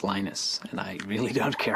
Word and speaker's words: Linus: lenus or Linus what's the exact your preferred pronunciation um when I speak Swedish it's you when I speak Finnish it's lenus when I speak English it's lonus and I really don't care how people pronounce